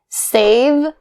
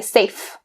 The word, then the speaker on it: save: Save, the v sound. Be careful and not to change it to a f sound. Don't say safe. That means something completely different than save.